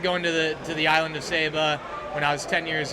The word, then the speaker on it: Saba: Nick Zachar, thanks for bringing your film, Saba, the Unspoiled Queen. Did I pronounce it right?